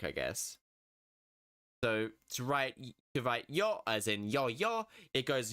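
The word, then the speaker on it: よ: But yeah, this one is pronounced yo, like you're throwing down a yo-yo.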